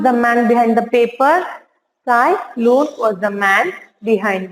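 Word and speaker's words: Ts'ai: Here, Sai Here T is silent, children.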